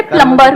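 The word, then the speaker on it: plumber: सर जैसे प्लम्बर, करते हैं। सब लोग प्लम्बर बोलते हैं हमारे देश में, बढ़िया है यार, क्या दिक्कत है? बी साइलेंट है उसमें। प्लम्बर ही तो होता है।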